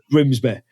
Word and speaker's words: Grimsby: Yeah, you are saying Grimsby wrong though as a Leicester person. You know you're saying it wrong. You're you're doing it your posh voice because you're on a podcast. It's Grimsby. Yeah.